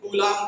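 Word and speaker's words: coulomb: है चार्ज की unit, कूलम। ठीक है, चार्ज की यूनिट क्या होती है, स्पेलिंग थोड़ा गलत हो गई है, COU होता है और LOMB होता है, कूलम law, sorry कूलम इज the unit of charge.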